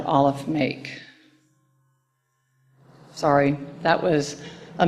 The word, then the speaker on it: Aleph: The first letter of the Hebrew alphabet is pronounced Aleph, and it can be spelled with an F or PH. They don't care, and I love Hebrew because I'm not a good speller. But it has no sound. It is silent.